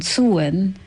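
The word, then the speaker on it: Samhain: it's a Celtic tradition it's called suen which I do not understand the English or the Irish for that matter they will pronounce a word massively different from the way they spell it are worse that's true that's true but still the sun is spelled s-a-m-h-a-a-i-n but contemporary language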